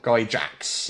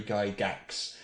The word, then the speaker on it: Gygax: correctly go Dax Gary Gygax not dry GAX not guy Jax he is Gary Gygax and I can tell